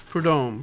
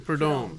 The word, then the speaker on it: Prudhomme: Prudhomme. Prudhomme. Yeah. I don't think I was pronouncing it right even when I read it.